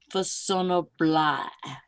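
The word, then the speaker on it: Façonnable: Fassonoblat. It's spelled Faconable, Yeah. Oh. but it's pronounced Fassonoblat. Fassonoblat. The C is a soft C.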